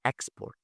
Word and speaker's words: export: noun like the word export. Export when you stress the first part this is a noun.